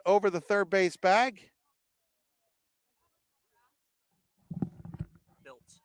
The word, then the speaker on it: Biltz: Biltz, not Blitz.